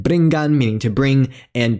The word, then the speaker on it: briggan: Ch when post-vowelic G or GS at the end of a word, such as dags meaning day, and nga when before K, G, GW, or Q, as in bringan meaning to bring, and drinkan meaning to drink.